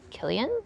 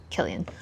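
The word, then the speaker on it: Cillian: And when I just saw this name, Killian, I just thought it was so pretty with the C, even though it's pronounced with a hard C sound. Killian.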